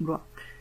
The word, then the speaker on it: Bloy: Ça, je cite Léon Bloy, puisque finalement ça se prononce Blois. Je crois que c'était Bloy, mais ça se prononce Blois.